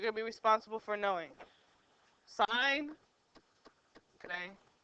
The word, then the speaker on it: sine: how you spell it s i n e just like the abbreviation which I'm going to show you here that's in that's the abbreviation for sign it's not sin okay it's the abbreviation